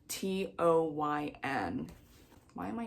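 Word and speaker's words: Táin: I thought it was the Tain. No, it's not. I go into the front because there's a whole pronunciation guide and how to say these words. Yes, it's pronounced, or like when you write it out, it's in these guides, it's Toyn.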